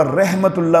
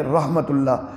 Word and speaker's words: رحمۃ اللہ: کرتے ہیں اور وہ رحمت اللہ بول دیتے ہیں، رحمت اللہ نہیں ہے، رحمت اللہ، را پر زبر کے ساتھ بولنا ہے، السلام علیکم ورحمۃ اللہ۔